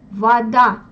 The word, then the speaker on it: вода: Кома, поза, мода, вода. C'est la même chose que pour casa. Вода.